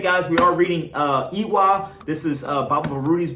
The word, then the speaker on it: Iwa: Iwa, pronounced Iwa, is the Europe term for character, right?